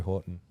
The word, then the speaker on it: Houghton: I've been saying Houghton for years, and he finally corrected me on the weekend. Wow. Because I did Andrew hear you say Horton. that at the comp, and I Yeah. thought you pronounced it wrong.